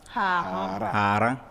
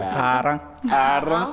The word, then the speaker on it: Haran: La prononciation, elle est spéciale. Elle est spéciale. Haran. Voilà. D'accord. Quand vous dites Haran, c'est autre chose. C'est autre chose. Il y a l'intonation qui compte.